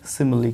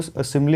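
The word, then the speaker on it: simile: सबसे पहले बात करेंगे सिमिली की, ठीक है। सिमिली, ये देख रहे हैं, सिमिली, स पे छोटी की मात्रा, म पे छोटी की मात्रा, यानी ह्रस्व स्वर का साउंड है यहाँ पे, ठीक है।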